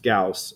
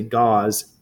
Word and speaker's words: Gauss: Gauss and his name is by the way pronounced Gauss some people say goz first time I had students say that I